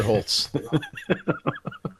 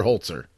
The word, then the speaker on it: Holzer: Holz excuse me i mispronounced its professor dr. Holz er yes he was uh